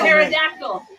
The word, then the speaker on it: pterodactyl: Pterodactyl. What? That's Terror. pterodactyl. The terror. The Oh, pterodactyl. it's not. That's It's pter- like terror. Oh, I was like, that's not how you spell pterodactyl.